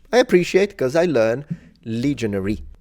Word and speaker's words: legionary: appreciate because I learn legionary not legionaire it's a there's a difference in English these are legionaries would